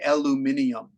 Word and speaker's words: aluminium: you know for example aluminum that you make metal aluminum drinking can the British say aluminium and that's always I like aluminium I like aluminium I actually be to say it that way aluminium because DK in